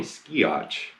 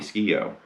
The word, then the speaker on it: Skeoch: came from but yeah i used to call him tommy skiach but it's tommy ski-o so anyway and also